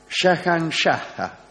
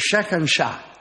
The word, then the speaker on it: Shahanshah: Ante todo, fue el primer líder musulmán que reivindicó el título de Shahanshah. Uh-huh. En realidad es Shahanshah. Claro. Tiene una H final que pronuncie demasiado.